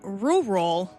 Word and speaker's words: rural: And we're actually going to rural Australia, which I fucking hate that word every time I have to say it. I like that you have to make sure you pronounce both R's.